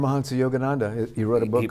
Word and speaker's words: Paramahansa Yogananda: then George Harrison and the Beatles actually also, pronounce his name so I don't get it wrong. Paramahansa Yogananda.